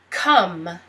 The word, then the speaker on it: come: sentence can next word come um you don't pronounce the e and this sounds like a you come um come